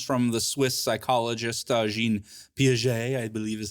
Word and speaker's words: Piaget: of example comes from the swiss psychologist jean piaget i believe is how you say his name